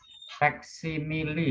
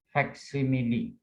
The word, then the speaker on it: facsimile: Facsimile bacanya. Kalau bahasa Inggris ini dibaca facsimile. Bukan facsimile, bukan facsimile, tapi facsimile.